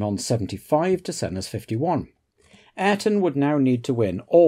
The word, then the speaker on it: Ayrton: First of all, it's not Ayrton like all Americans or English people used to say. It's Ayrton.